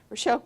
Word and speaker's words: Rochelle: Rochelle, just like it looks.